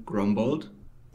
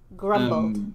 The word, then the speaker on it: Grombold: for yourself um yeah i would pronounce the name grumbled grumbled okay yes but i